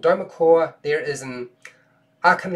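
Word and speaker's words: Dweomercore: can get this right it's pretty hard to pronounce derma cure dome Merc or don't call so it's called DOMA core there is an arc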